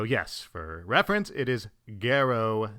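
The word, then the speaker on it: Garou: So as I was editing this, I realized I made a horrible mispronunciation. The other character I'm referring to is Gero, not Geno. For the rest of the video, I mispronounce it, saying Geno instead of Gero.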